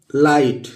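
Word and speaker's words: light: इसी तरह अगला शब्द है दोस्तों, अगला शब्द है लाइट। तो कैसे पढ़ेंगे? ल लिख लेंगे, ला, और आई है तो ई लिख लेंगे और जी साइलेंट है, GH, और ये ट लिख लेंगे।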